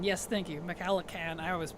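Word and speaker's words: MacLachlan: it's it's interesting sting yes sting on Kyle mallahan yes thank you maakan I always say that name wrong thank you the original Dune is so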